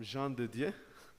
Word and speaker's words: Jean Didier: couldn't pronounce my name um Jean Didier so that's French name uh family name is